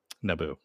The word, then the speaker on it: Nabu: No, Nabu, Naboo. And yes, I am pronouncing it correctly because that's how they pronounce it on Young Justice, where Dr.